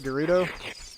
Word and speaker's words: Gerudo: Over to Gerudo Valley, depending on how you want to pronounce it. I've always said Gerudo, just because that's what it looked like to me.